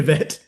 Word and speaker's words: Witt: lesbians talking about Katarina Witt. And listeners, if you're having trouble Googling, that's because I'm trying to use the Germanic pronunciation. It is Witt for Katarina.